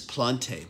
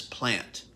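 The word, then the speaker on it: Plante: by james guthrie joel i've been pronouncing this plonte but i heard uh someone pronounced it as plant the other day p-l-a-n-t-e hopefully i've said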